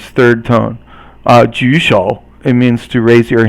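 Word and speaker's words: 举手: So 举三声, and then 手 is 三声. Both 三声 is third tone, so they're both third tone.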